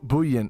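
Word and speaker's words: bouillon: how you pronounce it bu buan that's French let's do English bullion bullion yeah jerky is essentially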